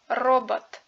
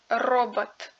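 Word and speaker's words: робот: Le accentué se prononce comme d'habitude comme dans les mots mentaux, sa idiot, docte robot. Par contre, le O non accentué indiqué en rouge est remplacé par un A dans l'écriture phonétique.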